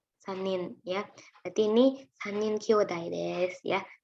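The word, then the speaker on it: 兄弟: Kyodai bacanya nasang.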